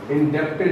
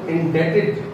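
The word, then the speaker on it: indebted: doubted हो गया, ठीक है, doubted, इसको कैसे pronounce करते हैं जी बेटा, नो इंडेप्टेड नहीं, जैसे यहाँ डाउटेड में क्या साइलेंट किया आपने, बी, तो इंडेटेड, that is इंडेटेड, बी A silent किया, इंडेटेड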